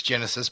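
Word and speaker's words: Genisys: the franchise again uh Terminator gen Isis I know that's Genesis but it's spelled g-e-n-i-s-y-s I've always Terminator Genesis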